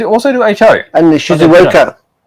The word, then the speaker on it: Shizuoka: And the Shizuoka. Did I say it right? Shizuoka? Yeah.